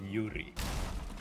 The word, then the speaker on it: Yuri: I like the name Yuri yeah Yuri is good rhy rhymes with Fury you read the fury